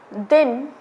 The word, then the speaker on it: दीन: दिन, दीन। दिन में द पे छोटी ई की मात्रा लगी है और दीन में द पे बड़ी ई की मात्रा लगी है।